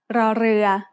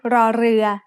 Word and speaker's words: ร: In other words, this is an R sound with a trill. Not everyone can make this sound easily, but you can get better with practice. When รอเรือ is the final consonant